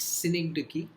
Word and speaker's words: synecdoche: It's pronounced synecdoche.